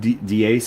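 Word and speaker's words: Deace: Steve Dace, I think is how you pronounce Steve Dasce, whatever it is.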